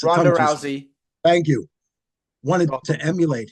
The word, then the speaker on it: Rousey: the fact that Ronda Ronda Rousey how you pronounce her name gez it's Rousey thank you wanted to emulate him um you